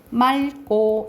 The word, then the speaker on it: 맑고: 그런데 이 리을 기억 뒤에 기억이 오면은 그냥 여는 데서 맑게 이렇게 발음된다라고 보시면 돼요. 그러니까 말 그대로 리을 기억 뒤에 기억이 오면 어떻게 발음된다고? 맑고 이렇게 발음난다고.